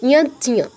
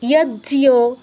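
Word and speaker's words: যজ্ঞ: তাহলে উচ্চারণটা কি দাঁড়াবে? ইয়জ্ঞ, ইয়জ্ঞ। এটাকে কেউ ইয়জ্ঞ, ইয়জ্ঞ এরকম বলবেন না, ইয়জ্ঞ।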